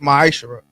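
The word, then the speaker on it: מעשר: Means tenth in the Hebrew and pronounced ma'ashara.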